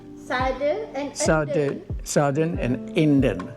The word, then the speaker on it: Sade: Sade, Sade and Sade, Sarden and Inden.